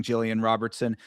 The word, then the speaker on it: Jillian Robertson: I too am taking Jillian Robertson, an honorary Floridian, even if she is from Canada.